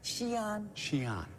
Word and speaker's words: Xi'an: Xi'an.